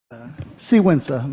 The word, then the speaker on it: Sigüenza: The next speaker is Sigüenza. I'm sorry if I'm not pronouncing that correctly. Sigüenza, but nobody gets it right.